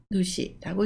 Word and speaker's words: 主: 그리고 하나로 읽을 때는 누시라고 읽습니다.